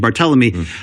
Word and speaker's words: Barthelemy: you've got a motivated barthelemy right now excuse me that's the correct pronunciation bar telling me um there's been times